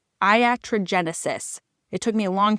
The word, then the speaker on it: iatrogenesis: It's Iatrogenesis. It took me a long time to be able to pronounce it. It's the name of I think the first chapter in the book, Iatrogenesis.